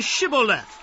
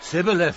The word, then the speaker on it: Shibboleth: If he said no, then they would say to him, Then say Shibboleth. and he would say, Sibboleth. for he could not pronounce it right.